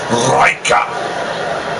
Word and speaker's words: Rika: You got to roll your R. Rika.